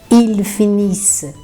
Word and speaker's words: finisse: Terceira pessoa do verbo finir, que é terminar, acabar, il finisse. Il finisse. Então, atenção, hein? Nada de pronunciar o NT no final.